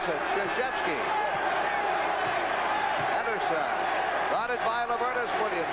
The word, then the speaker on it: Krzyzewski: It took me 2 years to learn how to pronounce it. Krzyzewski.